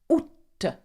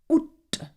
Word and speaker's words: août: Août. Août. Though août is quite easy to pronounce.